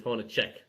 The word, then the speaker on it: Hornacek: So I believe the right pronunciation is Hornacek. Well, I always called him Hornacek like they did there.